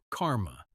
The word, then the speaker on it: karma: Karma written in Sanskrit as ker and pronounced karma with the emphasis on the first syllable.